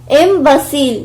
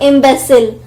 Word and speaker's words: imbecile: Imbecile, not imbecile. Imbecile.